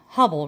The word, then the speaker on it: Hubble: Hubble rhymes with trouble.